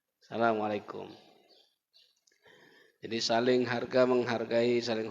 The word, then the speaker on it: Assalamualaikum: Itu pun Assalamualaikum itu banyak salah Pak bacanya. Kumnya itu pendek. Kap mim mati depan kum. Assalamualaikum. Yang banyak di tengah lapangan apa? Assalamualaikum. Nah, kumnya panjang. Yang benar kumnya pendek. Assalamualaikum.